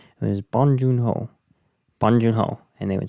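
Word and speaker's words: 봉준호: would say, it was Bong Joon Ho, and they would say it really quick. And how I tried to remember it almost sounds like Bongiorno, but you say it like Bong Joon Ho.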